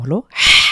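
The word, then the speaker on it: ح: হা কন্ঠের মাঝখান থেকে হলকের মাঝখান থেকে বা কন্ঠনালীর মাঝখান থেকে চাপ দিয়ে এভাবে উচ্চারণ করতে হবে।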